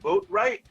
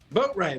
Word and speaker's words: Boatright: Is it Boatright? Boatright. That's my last name. Yep. Boatright.